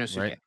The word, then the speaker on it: Sainosuke: Um, some other people have asked me to do Ian now versus Sanosuke. Is that how you say it, right? Sainosuke. Yeah, okay.